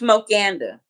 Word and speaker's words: Smokanda: It's Smokanda. Like Wakanda for life. Smoke Anda. So instead of the E, it's like the KA run together. Smokanda.